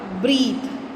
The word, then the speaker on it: breathe: Pronunciation is changed when we add e to bath. it will become bath, and breath का हो जाएगा breathe. Okay, so be careful in pronouncing the word which becomes the verb. Bath, bath. Breath, breathe. Understood?